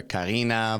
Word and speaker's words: Kari: Because I was like, it looks to me it could like be Karin or Karina, but I'm Well, I not mean, sure.